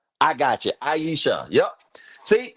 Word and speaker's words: Aisha: Aisha? Means life. I like that. Yep. Are you talking to me? I e Okay, I I e Aisha. I got you. Aisha.